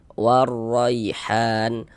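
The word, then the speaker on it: وَالرَّيْحَانُ: Nah, karena huruf lamnya ini yang nggak ada tanda bacanya, berarti ya nggak dibaca, kita lewati, kita masukkan. Nah, kita lewati bacanya dari wa, langsung dimasukkan ke huruf ro ini ya. Jadi huruf lamnya nggak dibaca karena nggak ada tanda bacanya gitu.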